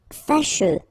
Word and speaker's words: fâcheux: Fâcheux. So final X not pronounced, and then you get your combination of U, E.